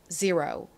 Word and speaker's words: zero: zero. 한국식으로는 보통 E를 E로 읽고 O를 그냥 O 이렇게 읽어서 제로라고 쓰고 읽는 경우가 많은데요. 실제 미국식 영어 발음은 이렇게 읽습니다. 따라해보세요.